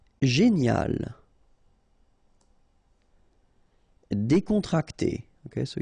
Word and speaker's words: décontracté: Décontracté. Okay, so you've got accent aigu here and here, so it's e.